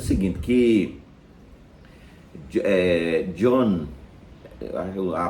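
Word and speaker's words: Jean: Aí eu explicaria dizendo o seguinte, que John, a pronúncia correta, ele é francês, né?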